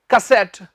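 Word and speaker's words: cassette: Kitchenette, नॉवलेट, सिगरेट, कैसेट, इनके पीछे eight डलता है और एट का मतलब छोटा। और बैक टू दिस, आप बताएं इसका सही एक्सेंट क्या है? कसेट, कसेट।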